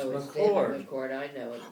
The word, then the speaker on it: McCord: Are you sure it's not McLord? No, it's McCord.